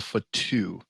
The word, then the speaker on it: Fatu: is the Anawahu or Batu dynasty, however you pronounce that. But yeah, it was crazy. It's pronounced Anawahi and a Fatu.